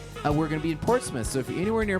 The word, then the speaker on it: Portsmouth: an interesting one too because it's spelled m-o-u-t-h and you it's portsmouth yeah i don't think they say port's mouth i think they put a little sauce on it portsmouth portsmouth it's kind